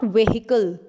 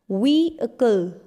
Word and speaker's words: vehicle: It's not vehicle. It's vehicle.